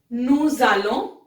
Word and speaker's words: nous allons: We have nous allons. Now here you can see nous. S has full sound. Why? Because the next word starts with a vowel. So it is nous allons.